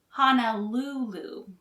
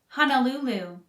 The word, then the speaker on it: Honolulu: aquarium in the world honolulu is four syllables long with the third syllable stressed honolulu honolulu honolulu the capital city of